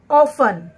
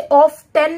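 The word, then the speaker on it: often: ऑफन, इसे ऑफ्टन नहीं पढ़ेंगे, ऑफ्टन पढ़ना गलत होगा, इसे हम ऑफन पढ़ेंगे, ऑफन। तो इसमें भी हमारा टी साइलेंट है।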